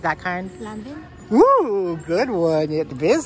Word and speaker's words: Lanvin: Lanvin? Ooh, good one. It is Lanvin. It's actually pronounced Lanvin.